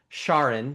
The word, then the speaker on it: Charon: And and so the uh oh by the way I've learned the pronunciation is officially Shaun because I met Charlene for whom Shaun was named by uh by her husband.